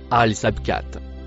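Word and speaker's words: السابقات: Le mot en rouge se prononce alabcat.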